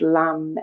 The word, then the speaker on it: lam: The seed syllable is lamb.